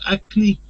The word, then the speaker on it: acne: but I know, but the pronunciation is acne in English. yes, yes, pronunciation is acne, exactly. I know in France acne where she is, but in English you have acne.